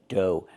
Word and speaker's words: dough: Pronunciation do. Make the long O like no and go. And the gh is silent.